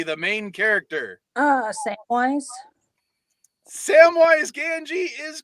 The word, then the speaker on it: Gamgee: Samwise Gamgee is correct. Or Gamgee. I mispronounced it.